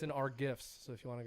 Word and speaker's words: GIF: I say GIF Yeah, that sounds right. I say GIF Because- because it sounds easier. because Like a Jif Jiffy. peanut butter is spelled with a J.